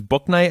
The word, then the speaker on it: Bouknight: We got Jalen Gaffney now, in addition to James Bouknight, I believe is how you say his name. B-O-U Knight, as in Knight in Shining Armor.